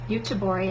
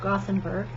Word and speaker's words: Göteborg: Then they have Gotland, which is Jönköping is in that region, and it is got Malmö and Göteborg, as they pronounce it. We read it Gothenburg.